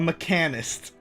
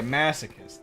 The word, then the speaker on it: masochist: A mechanist. I know that's not how it's said. Oops. I messed up. There we go. The party has started. Oh yeah, masochist. That's how it works.